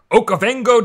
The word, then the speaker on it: Okavango: Will you pronounce the name of this delta for me? Okavango Delta.